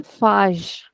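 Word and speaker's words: faz: of the word uh And there you will pronounce the zed as a softer zed like a zha.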